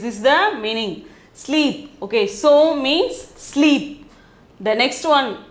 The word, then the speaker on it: सो: So pronunciation is so.